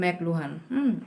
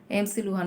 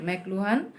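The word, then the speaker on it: McLuhan: ওটার উচ্চারণ হবে কিন্তু ম্যাকলুহান। ওটার উচ্চারণ কী হবে, ম্যাকলুহান, MC লুহান না, কিন্তু ম্যাকলুহান।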